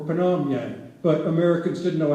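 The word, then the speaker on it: Pyongyang: pingyang an Asian name it's actually Korean for panyang but Americans didn't know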